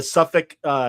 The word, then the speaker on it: Southwark: So the Kickstarter campaign, everybody, is the Southwark Stigmata. Am I saying it right? Southwark?